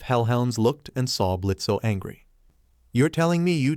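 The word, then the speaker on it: Blitzø: adopted by said imp blitzo o is silent when you were 17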